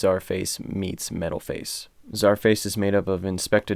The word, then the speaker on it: Czarface: to be reviewing the album super what by zarface and mf doom it is definitely pronounced as our face as they made it